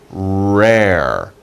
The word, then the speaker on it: rare: about them they are rare be careful pronunciation you have two r sounds r remember when you